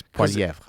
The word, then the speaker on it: Poilievre: I mean, if you say it with the proper French accent, yeah, it's Poilievre.